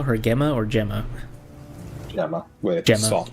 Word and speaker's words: Gemma: Gemma. Wait, soft G. How dare. It has a G. It should be pronounced GMA like you do GIF.